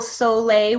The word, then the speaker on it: Sole: And look up, so tell everybody who's listening, Google Soleil water. It's spelled SOLE.